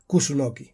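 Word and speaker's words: 楠: tenia un paper important, un arbre que en japonès es pronuncia Kusunoki.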